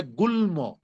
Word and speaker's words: গুল্ম: কোনো গ্রামার টামার খাটবে না, ল লয়ের মতো উচ্চারণ হবে, ম ময়ের মতো উচ্চারণ হবে। এই জন্য এটার উচ্চারণ হবে গুল্ম। গুল্ম জন্ম।